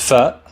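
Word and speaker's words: ف: Next is fa, fa, which is pronounced like the letter F.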